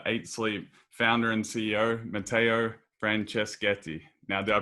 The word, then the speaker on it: Matteo Franceschetti: to have the eight sleep founder and ceo matteo francescati now do i pronounce that right that was perfect you speak